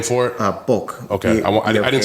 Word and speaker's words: Bokh: Bokh.